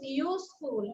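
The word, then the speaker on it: useful: কিন্তু ইউজফুলের আগে কিন্তু এ হবে, কেন? কারণ এটা ও এর মতো উচ্চারণ হচ্ছে না, আয়ের মতো উচ্চারণ হচ্ছে না, দ্যাটস ওয়াই।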